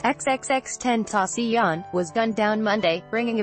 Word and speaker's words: XXXTentacion: Freud 20 who went by the stage name pronounced xxx 10 ASEAN was gunned down Monday bringing a violent end